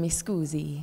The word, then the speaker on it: mi scusi: I think you should learn mi scusi.